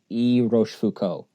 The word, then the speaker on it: Rochefoucauld: last name is French how do you correctly pronounce Roche Foucault right there you got it I got it the pepper yep Wow Roche food Co yep now why was